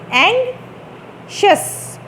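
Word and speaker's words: anxious: ये वर्ड जो है ये बहुत ट्रिकी है, इसके साउंड्स में बहुत ज़्यादा आप कन्फ्रंट करते हैं इस वर्ड को, लेकिन यूजुअली मिस प्रोनाउंस किया जाता है ये word. This word is एंग्शियस, एंग्शियस, एंग्शियस, SHUS, शस, एंग्शियस।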